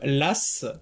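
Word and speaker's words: Law: vers un banquier écossais du nom de John Lass, c'est ainsi qu'était prononcé son nom à l'époque, même si ça s'écrit Low, qui préconise tout simplement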